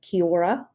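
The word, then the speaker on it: kia ora: Um, it sounds something like Kiora.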